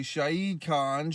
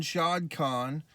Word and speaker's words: Shad Khan: man his father uh if i say his name properly shahi khan shad khan is a rich man this